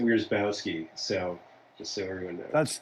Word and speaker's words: Wierzbowski: Plus, you pronounce it Wierzbowski, so just so everyone knows.